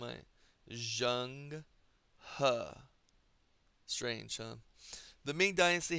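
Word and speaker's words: Zheng He: It's Jungha is how you pronounce this name. I Jang Ha.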